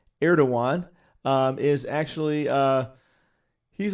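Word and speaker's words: Erdoğan: being attacked but uh erdogan as it's pronounced looks like erdogan but it's actually erdogan um is actually uh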